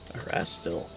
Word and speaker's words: Erastil: Erastil. Arastil. The wikis. The wiki has general pronunciations for a lot of things. Erastil.